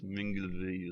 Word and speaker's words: Milngavie: It's 96 miles long, I think, from it's spelt Milngavie, but apparently it's Minglevie or something like that. I don't know. It's a Scottish name and it makes no sense.